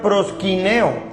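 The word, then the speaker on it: προσκυνέω: en la raíz de la raíz griega se pronuncia proshkin eo y significa reverencia postrarse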